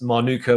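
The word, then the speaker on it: Mānuka: The Moldy tribes, it is Manuka with a macron across the A, hence A as opposed to A, Manuka.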